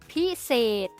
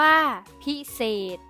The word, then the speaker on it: พิเศษ: สะกด แม่ กด ที่ มี ษฤาษี เป็น ตัว สะกด ออก เสียง เป็น เสียง ด เด็ก ได้ แก่ คำ ว่า กระดาษ อ่าน ว่า กระดาษ พิเศษ อ่าน ว่า พิเศษ ยา พิษ อ่าน ว่า ยา พิษ ขอ